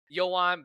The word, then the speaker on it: Yoann: I said Joan Beringer. How very American of me.